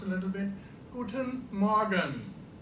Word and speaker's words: Guten: When you see me, I say guten. The paper moves, right? So there is a closion, a closive sound at the end.